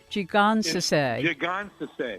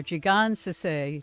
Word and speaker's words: Jigonsaseh: say so how do you say that name gee gonzo say there we are G God's to say to solar topia educational publisher biblio publishing release